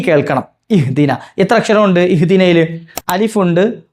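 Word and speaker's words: اهدنا: പക്ഷേ ഇത് കൂട്ടി വന്ന സമയത്ത് അവസാനം വന്ന അലിഫിന്റെ ഉച്ചാരണം പുറത്തേക്ക് വരില്ല. അത് കേൾക്കൂല്ല.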